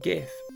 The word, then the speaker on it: Gith: 30, GITH. Controversially not pronounced GIF.